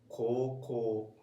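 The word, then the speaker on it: 高校: High school in Japanese is koko. Koko. Even though it's written ko u, this is u, Okay. ko u, but actually it's pronounced like koko. Koko.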